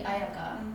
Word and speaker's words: Ayaka: So for like example, your name in Japanese would be Ayaka. To like Spanish-speaking country, Ayaka, same. Oh, really? Yeah. I don't like ayaka. Yeah, same pronunciation. But if you go to like English-speaking country, Ayaka, Ayaka, yeah, Ayakar.